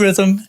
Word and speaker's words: Rithm: That's where rhythm is spelled RITHM, like algorithm.